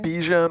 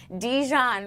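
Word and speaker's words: Bijan: Bejian Robinson. Oh, I made a new player. Dejon Robinson.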